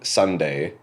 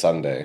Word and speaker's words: SONDAE: So the main artist is called Sunday. I believe that's how you say it. So it's SONDAE. SONDAE. Okay, cool. I'm assuming it's Sunday.